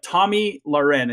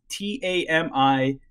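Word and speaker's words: Tomi Lahren: So it's like Tommy Lauren. It's TAMILAHREN. But everyone's like, Toyota Bahama was on Fox News today, or Tomahawk Tamale, and they just say her name super weird all the time, and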